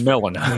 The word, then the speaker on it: Melina: Yeah, this person named Melina, or is that pronunciation incorrect? I always... It's Melina.